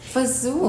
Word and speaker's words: fagioli: Fagioli? I googled how to pronounce it. Fazool.